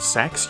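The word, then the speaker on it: CeX: the UK and Ireland called sex yes that's how it's pronounced don't ask me why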